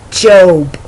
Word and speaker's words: Job: of a person it's Jobe it's as if it was spelled j-o-b-e it's job but when